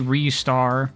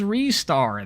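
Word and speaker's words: Ristar: RAR too cool oh technically it should be restar that is the correct pronunciation much as we don't like it it's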